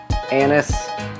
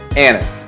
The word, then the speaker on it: anise: cookies today big smush anise almond cookies yes that's right anise or anis whoever you want to say it just be careful how you say it these cookies can